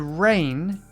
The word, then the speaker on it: reign: The silent G in there. So to reign is like to rule over someone, to be the leader or the king or queen.